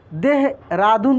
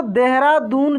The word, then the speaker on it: देहरादून: देहरादून भी ऐसे ही उच्चारण हो रहा है, ह में ऐसे उच्चारण हो रहा है कि पूरे अ की मात्रा नहीं उच्चारण हो रहा है, ठीक ना।